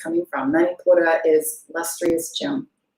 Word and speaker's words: Manipura: In Sanskrit, it is pronounced Manipura.